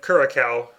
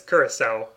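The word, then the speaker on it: Curaçao: Yeah, it looks like curacao, but it's curacao. Right, which is, yeah, because it's got like French characters in the name, which make pronunciation weird.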